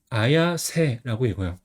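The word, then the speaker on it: 綾世: 그래서 우에 다 그다음에 이름 같은 경우는 비단기하고 인간새가 합쳐져서 아야세라고 얘는 이제 마이다 다이젠이라는 선수입니다.이 선수도 세트 선수인데 굉장히 골을 많이 넣어요.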